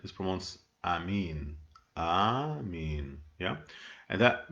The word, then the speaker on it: amen: the information that the word amen is not pronounced amen it promotes amin ah me yeah and that means in aramaic